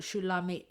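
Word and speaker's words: Shulamith: is a woman who's I pronounce it the Hebrew way soorry I'm going to continue to although people give her name differently she's called shulamit Firestone she wrote and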